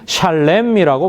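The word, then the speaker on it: שלם: 평화는 샬롬이고 지불하다는 샬렘이라고 발음합니다.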